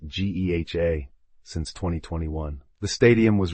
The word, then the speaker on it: GEHA: The stadium has been officially named Geha Field at Arrowhead Stadium, pronounced Geha, since 2021.